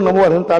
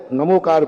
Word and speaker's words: णमोकार: दूसरे लोग नमो अरिहंत बोलेंगे उस पर कोई ऐतराज नहीं करना। वह उनकी परंपरा है। हमारे दिगंबरों को तो मेरा यही आगाज है। कि णमोकार मंत्र है। णमोकार पढ़ें।